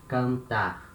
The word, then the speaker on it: cantar: Cantar. Letter N at the end of a syllable, it has this nasal sound.